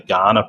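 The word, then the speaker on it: Kaurna: still land of the Ghana people it's it's written with a K it's k a n a it's pronounced Ghana like the country in Africa okay Ghana nation has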